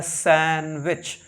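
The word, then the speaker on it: sandwich: genre के हैं सैंडविच एस ए एन डी डब्लू आई सी एच my learners इसमें डब्लू का side नहीं होता है मायरी लर्नर यह होता है सैंडविच सैंडविच फिर एच ए एन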